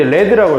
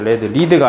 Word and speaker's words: read: 여기 읽을 때 이제 read라고 읽어야죠. read가 아니라 pp니까 may have read the book already.